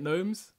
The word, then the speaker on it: gnomes: Real G's moving silence like gnomes. Real G's moving silent like gnomes. Because gnomes is spelled G-N-O. Because you don't pronounce the G.